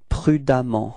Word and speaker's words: prudemment: So you will get, for the adverb, it's prudemment, okay? And the strange thing is that you will write E-M-M-E-N-T for the adverb, but then you pronounce as if there was a-A, okay?